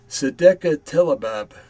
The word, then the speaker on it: Sedequetelebab: And the good thing I broke them up phonetically. Sedekah Telabab. Okay, and it is spelled in English Sedequetelebab.